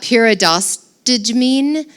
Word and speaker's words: pyridostigmine: Pyridostigmine, Pyridostigmine.